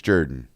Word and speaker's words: Jordan-Hare: I'm not I don't think I'm the only person that would call it Jordan-Hare. It is spelled like Jordan, Mhm. but it's Jerdan.